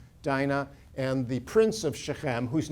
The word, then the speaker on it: Shechem: the city of chem we pronounce it shechem in english and uh and she